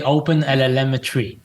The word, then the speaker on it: OpenLLMetry: do you say it I say open LM Tre yeah you hear the M it sounds like open Telemetry but open L but it sounds like you have Three L's in there open